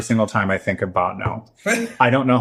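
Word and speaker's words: Bottineau: It is scary and Botnau specifically is a whole different there's like I grew up in Fargo which is the big city of what's the name of this town? Botnau spell it for me please.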